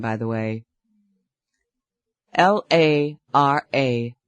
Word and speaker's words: Lara: Name by the way L A R A 339 827 I pronounced it Lara Lara that's beautiful fits you